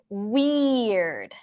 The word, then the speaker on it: weird: So we have the stir sound, and then weird. That's a E sound. And then it ends with erd. Weird.